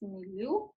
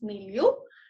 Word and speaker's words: milieu: I think it's milieu. Yeah, it's milieu.